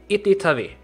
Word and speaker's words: Itytawy: And I actually checked up the pronunciation of this town, and it's Itytawy.